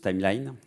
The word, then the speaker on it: Timelion: C'est Timelion. Alors ils veulent qu'on le prononce Timeline.